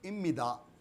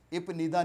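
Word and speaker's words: 입니다: इस वजह से हम इनको बुला रहे हैं इम्मिदा। इपनिदा नहीं कहेंगे, इपनिदा गलत प्रोनाउंसिएशन है, रॉन्ग टोटली। और ये आप इम्मिदा, इम्मिका, इसी तरह इपनिका नहीं पढ़ना हमने, इम्मिका।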